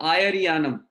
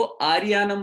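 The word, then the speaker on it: आयरियाणं: नमो आयरियानम, तो वो आर्यानम बोल देते हैं, कोई कुछ बोल देता है, कोई कुछ बोल देता है। आयरियानम, ये ध्यान रखना है। कभी कभी आयरियानम भी चलता है, कहीं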